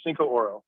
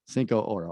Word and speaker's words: Cincoro: So it's got two syllables. Cincoro. Cincoro.